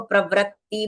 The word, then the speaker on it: प्रवृत्ति: है यह है प्रवत्त बहुत सारे लोग इसको प्रवृत्ति बोल देते हैं। पर यह व्र नहीं है। यह ऋ ऋषि वाली मात्रा लगी है। तो इसको वृ प्रवृत्ति इ उच्चारण होना चाहिए।